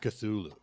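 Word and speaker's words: Cthulhu: the girl of cthulu is that how you pronounce that cthulu yes cthulu okay I I like the story of minky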